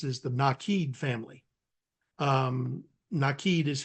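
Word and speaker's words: Nakid: my favorite ones is the naked family um nid is how it's pronounced but an English person speaking American would pronounce it naked is what it looks like and I had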